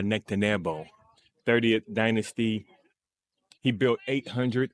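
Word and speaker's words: Nectanebo: Different ways of explaining this one is that name is pronounced uh Nectaneo 30th dynasty.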